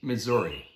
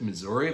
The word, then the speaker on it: Missouri: for the pronunciation of the state Missouri now some people pronounce it Missouri like me some people say Missour these are just a